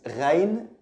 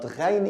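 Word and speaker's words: غين: The next one is ghain, ghain. It's written like ayn, but with a dot above, but ghain is pronounced like the French R, gha, ghain, ghain.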